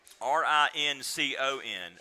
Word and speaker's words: Rincon: R-I-N-C-O-N, Rincon.